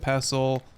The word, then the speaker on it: pestle: Mortar and pestle. I've been pronouncing that wrong my entire life. I just learned yesterday that it's not, you don't pronounce the T in it, which is interesting, and